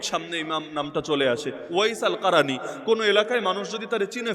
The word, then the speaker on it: ওয়াইস আল কারানী: হই কিন্তু আল্লাহ তারে এমনভাবে প্রকাশিত করে দিয়েছেন ওয়াইস আল কারানীকে চেনে কে বাংলায় হয়তো ওয়াজ কুরুনি বলেন আর কি আপনারা এটা ভুল উচ্চারণ ওয়াজ কুরুনি নামে কেউ নাই ওয়াজ মানে